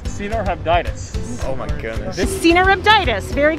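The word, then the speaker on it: Caenorhabditis: So it's C-nor-habditis.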